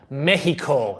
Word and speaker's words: Mexico: Mexico. That's the correct way to say it. Mexico. Mexico. All right. I kind of round that H off, but whatever.